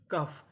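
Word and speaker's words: cough: अब हमारा अगला नियम ये है कि अगर आपको इंग्लिश में कहीं पर यूजी एच लिखा मिले तो हम लोग यूजी एच को पढ़ते हैं फ।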